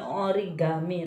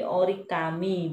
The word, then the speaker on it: origami: lipatan dan Gami cedera kertas sebenernya itu bukan origami tapi ori kami bacanya itu ori kami-kami yang game itu bahasa